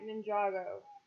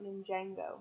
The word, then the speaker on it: Ninjago: I know, but we pronounced it like Ninjago, not Ninjango. I thought that had an N. You're adding an extra N in there.